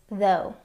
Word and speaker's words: though: The next word is though. though. I stayed at work until midnight even though I was exhausted. Some words that have the same spelling pattern and rhyme with though are dough.